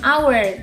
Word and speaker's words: hour: Karena h di sini ini is not pronounced, jadi tidak diucapkan ya. Jadi lebih langsung ke huruf O-nya, an hour.